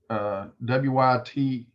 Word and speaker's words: wythe: So when you're doing a single wythe, and that's the way it's spelled, W-Y-T-H-E, wythe.